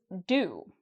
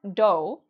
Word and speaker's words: do: So, notice how I pronounce "do". It's not "doe", even though there's an "o", here. "Do", it rhymes with "u". So, we have here, what's this letter? This is a "u", "do", "u". Okay? So, they rhyme.